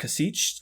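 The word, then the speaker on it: Kasischke: Warehouse of prayers by Laura cich I think is how you were to pronounce her last name it's k a s i s c h ke it's one of those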